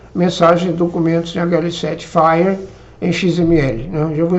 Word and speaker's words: FHIR: Pronuncia FHIR, F-H-I-R, que é Fast Healthcare Interoperability Resources, ou Recursos Rápidos de Interoperabilidade em Saúde.